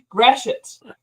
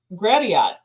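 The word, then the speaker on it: Gratiot: it grash it straight I feel like it' be grat or something I know and that's what I said the first time was gradot and he's like no that's wrong it's Gret like all right like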